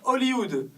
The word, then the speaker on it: Hollywood: En français, on ne prononce pas le H. On dit Hollywood, la capitale américaine du cinéma.